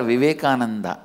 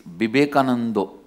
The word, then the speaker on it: Vivekananda: Because in Bengal all the A will become O. In Bengali it is never Vivekananda, it is Bibekanando.